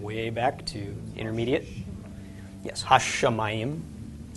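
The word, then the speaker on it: הַשָּׁמַיִם: Yes, ha-shamayim. Drag out the sh a little bit in the pronunciation.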